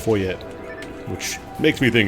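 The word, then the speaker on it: Foie: Believe in Japanese it's pronounced foye. Which makes me think it's more meant to be like German like foya.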